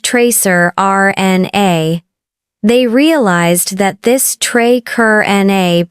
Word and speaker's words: tracrRNA: They found a previously unknown molecule called tracrRNA, pronounced tracer RNA.